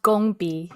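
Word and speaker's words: 工笔: It's pronounced gongbi.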